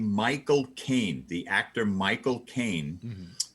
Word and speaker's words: Michael Caine: to say the name Michael Caine, the actor Michael Caine. The way to do it is to say the words "my cocaine," my cocaine, my cocaine.